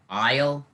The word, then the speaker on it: isle: like in the word isle uh a-i-s-l-e there's a silent s so you have to